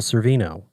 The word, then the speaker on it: Sorvino: um paul's i'll say his name right paul cervino close which is kind of crazy right i